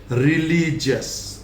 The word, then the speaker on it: religious: पर GIOUS is pronounced as जस. जैसे रिलीजियस, रिलीजियस, नॉट रिलीजियस. और यस तो बोलना ही नहीं है.